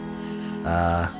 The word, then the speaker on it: Michel: Okay, so my Mikel is a French name apparently. Okay. So So how you pronounce it? Oh, how do you pronounce it, Google? Michelle. Michelle? Michelle. It's a French name though. So what if I put it in French? French. Michelle. Michelle. Michelle. Michelle. Okay, so it is Michelle.